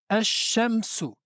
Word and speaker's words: الشمس: Egalement, si le alif et le lam est suivi d'une lettre solaire, on ne prononce pas la lettre lam. La lettre solaire qui suit est alors doublée.